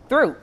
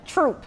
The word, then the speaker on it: Throop: Through. No. See, I thought you said it was the simple. H is silent. Troop.